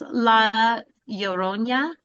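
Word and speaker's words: La Llorona: Laorona.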